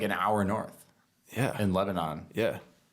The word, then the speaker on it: Lebanon: In Lebanon. Yeah. Or Lebanon, the way they pronounce it. I always say Lebanon. It's Lebanon. Little New Hampshire lore for those.